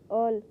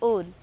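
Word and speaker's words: all: ऑल नहीं यह इसका गलत उच्चारण है। इसका शुद्ध उच्चारण होगा ओल।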